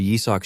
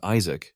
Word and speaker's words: Yisak: Memories flooded back as he realized that back then, his subordinates used to mispronounce his name as Isaac instead of Yisak.